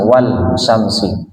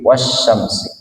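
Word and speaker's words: والشمس: Sehingga ketika membaca alif lam langsung ke as kalau di dalam tulisan wal syamsi cara membacanya bukan seperti itu tapi wasyamsi.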